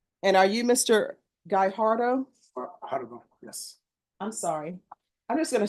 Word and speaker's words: Guajardo: Guajardo, yes. I'm sorry. I'm just gonna say sir. I'm just gonna call you sir. Think of guacamole, Judge.